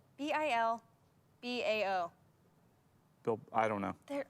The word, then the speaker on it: Bilbao: um i will say new york city paris bilbao huh bilbao bilbao bilbao how do you spell that b-i-l-b-a-o bilbao bill gaboa bilboa no no